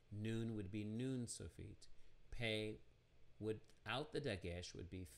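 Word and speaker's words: פ: to the ph sound it's pronounced pay or can spell it with an f f and that would be fey so we have pe or fe and then we have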